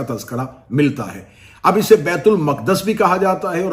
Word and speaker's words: بیت المقدس: چلیں بیت المقدس اس کا اصل تلفظ ہے جس کے تحت اس لفظ کو بولا جا سکتا ہے.